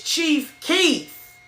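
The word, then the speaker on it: Chief Keef: I told you, my daughter laughed at me cuz after I got off the feed, y'all, she told me, "You said the name wrong. It's Chief Keith."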